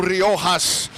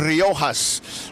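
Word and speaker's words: Rojas: my man Joe rohas and that's how you say it you got to say it right when you're in Corpus Chris you say Ras that's how we say it right here that's that's how my people say it but up at the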